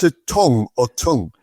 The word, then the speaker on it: Tonge: is your your surname T O N G E. Do you pronounce it tongue or tongue? It's tongue. T O N G E. Tongue. As in as in your mouth tongue, you know.